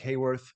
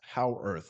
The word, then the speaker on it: Haworth: You can follow him online on Twitter at IG Howarth, which is Haworth. Looks like Hayworth, pronounced Howarth, like how on earth, but without the on.